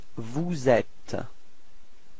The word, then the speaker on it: vous êtes: So this is the first, just to notice the sound, and after that you should do the liaison. So this small link between the S and the E, so you get vous êtes.